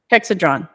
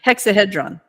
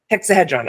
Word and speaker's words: hexahedron: or shapes I mean I'm sorry hexad Dron hexon okay want to make sure I heard I'm sorry I mispronounced it thank you for correct for noticing it hexahedron hexahedron okay yes yes thank you for saying that